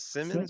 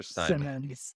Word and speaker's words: Anthony Simons: some names here guys Anthony Simons is it Simmons or Simon Sim it's pronounced Simons he's actually from alamont Springs went